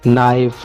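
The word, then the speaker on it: knife: है के, ठीक है, तो ये यहाँ पर साइलेंट है। इसकी एक और एग्जांपल भी मैं आपको दे देता हूँ, नाइफ, ठीक है, नाव, इस तरह के इसके काफ़ी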